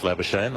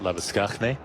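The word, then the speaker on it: Labuschagne: It's a minus Labashane or if you've been listening to the Rugby World Cup, Lavisknney, the way we should be pronouncing it, the African style.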